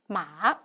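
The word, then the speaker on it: 马: a modern Chinese character maha we may take a look at there are changes of the physical structures of this Chinese character ma meaning horse pronounced as ma and the changes of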